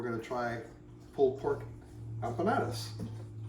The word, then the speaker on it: empanada: tell my thumbnails to make some kind of Empanada that's how you say it uh and we're